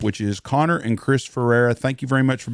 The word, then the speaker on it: Ferrara: As mayor of Knox City, we bought a couple of fire trucks off of Ferrara Fire Department. Am I saying it correctly? It's Ferrara.